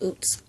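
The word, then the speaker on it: עֹז: But, oots, it says ooze, but it's pronounced oots, and it means firmness.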